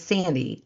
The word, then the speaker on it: Sandee: landed on my podcast, my name is Sandy. S an N D E E two E bird, not I Y R D.